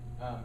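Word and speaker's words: miosis: that sounds a lot like Gabi concepto production it's spelled differently it's actually spelled m I Oh sis mio sis meiosis and then that is shown by the constriction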